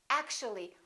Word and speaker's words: actually: actual three syllables actual but if we add the ly like here this disappears and we say actually actually we don't say actually